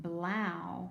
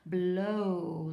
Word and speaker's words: blow: sound let's try it this one blough no blouse not a word let's try it with Oh blow like blow out the candles so that's an O sound Brown that's the opposite